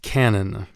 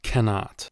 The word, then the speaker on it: canon: It's pronounced canon, not cannot.